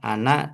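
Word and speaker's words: أنا: ajak bicara itu adalah anak dan nahnu. Ya, kalau anak kami, anak itu saya ya. Jadi walaupun di sini tulisannya anak, tapi bacanya pendek ya, anak ya saya.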